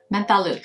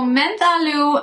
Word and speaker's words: Menthe: This is the Menthe Menthe. Let's try it. Let's get an actual, just like, see how this is supposed to be pronounced. So Menthe means mint water. Interesting. Okay, mint water. Menthe. Menthe. Menthe.